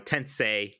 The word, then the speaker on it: Tensei: Tensei.